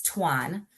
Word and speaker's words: Thuasne: And yes, it's pronounced two like the number two then an or, um, if you are from Europe, it's Tuan.